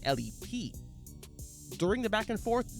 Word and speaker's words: L.E.P.: Game said LED boys rather than L.E.P.